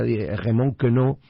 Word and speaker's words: Raymond Queneau: El escritor francés, no es por agrandarme, lo voy a pronunciar a la francesa, Raymond Queneau, decía que cuidado, algo así, decía cuidado con sacar esas cosas que llamás defectos.